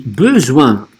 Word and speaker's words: besoin: Не be, беса маймуча, а besoin. J'ai besoin. А здесь n на конце, носовое. J'ai besoin.